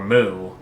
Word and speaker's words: Mu: Our explorer is naming it Mew. Or Mu. As in the Greek letter. It could be pronounced after the Pokemon too, but you never know.